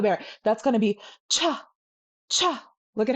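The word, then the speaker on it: ཆ: That's going to be cha, cha.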